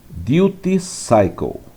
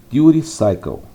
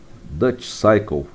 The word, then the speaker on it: duty cycle: Essa é a pronúncia, ou se você falar rapidamente no inglês americano, duty cycle. Eu já ouvi o pessoal falar Dutch cycle, mas eu acho que não é uma boa pronúncia, né? Porque parece mais como ciclo holandês.